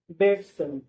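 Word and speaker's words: Bateson: अब फ्रेंड्स, अब आप इसको विलियम बेटसन भी कह सकते हो या फिर बटेसन भी कह सकते हो। यहाँ पे जो स्पेलिंग है इसका BATSON, तो कुछ लोग इसको बेटसन कहते हैं, कुछ लोग इसको बटेसन कहते हैं, तो आप दो चार इसको बोल सकते हो।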